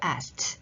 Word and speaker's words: asked: ask 발음 너무 어려우시잖아요. 크 하지 마시고 asked asked 렇게 발음하시면 됩니다.